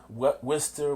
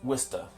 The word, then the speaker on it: Worcester: People say Worcester, Worcester, but really it is Worcester.